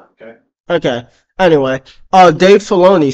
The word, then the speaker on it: Filoni: Wait, I'm not sure if I'm pronouncing it incorrectly. That it is. You're saying correctly. It's Filoni.